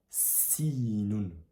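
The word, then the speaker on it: سين: C'est l'équivalent de du C en français. Sauf que encore une fois, on met un petit accent aigu. Au début, ça fait sinoun sinoun sin répète après moi sinoun.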